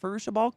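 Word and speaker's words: Fairuza Balk: Farusha Balk?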